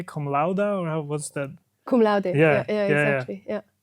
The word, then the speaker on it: cum laude: How do you say cum laude or what's that?